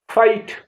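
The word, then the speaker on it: fight: उच्चारण राइट इस आधार पर इन शब्दों का उच्चारण करें कैसे एस आई जी एच साई आ भरना एफ आई जी एच टी फाइट लड़ाई एम आई जी एच टी माइट माने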